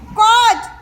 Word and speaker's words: colt: এলটা উচ্চারণ হবে না, COLT লিখবো কিন্তু উচ্চারণ করবো COT।